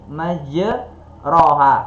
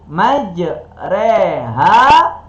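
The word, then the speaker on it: مجراها: video ini tulisannya Bismillahi majroha. Kan tulisannya majroha. Akan tetapi dibacanya nggak boleh ro, dibacanya Bismillahi majreha wa mursaha.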